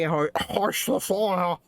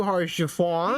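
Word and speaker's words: Haurchefant: Orchiffon. It's French. I'm American. What do you want from me? Oh, it's pronounced like it's French anyway.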